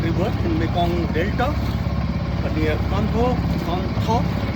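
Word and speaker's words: Cần Thơ: and on Mekong River in Mekong Delta near Kantho, spelled as Kantho but pronounced as Kantho.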